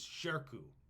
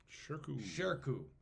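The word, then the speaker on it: Shirkuh: is amazing and his name I want to pronounce it properly is Sharko Sharko which is s uh s-h-i-r-k-u-h is how we spell it shirku is a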